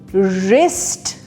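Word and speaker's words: wrist: हो रहा है तो ये वर नहीं होगा ये र से स्टार्ट होगा ठीक है क्योंकि डब्लू साइलेंट है वो क्यों क्योंकि वो आर से पहले आ रहा है तो पहला वर्ड है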